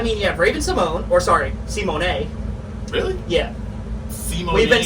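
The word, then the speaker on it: Symoné: Simone. We've been saying her name. We've been saying her name wrong. It's Raven Simone. Simone? Yeah, it's not Simone.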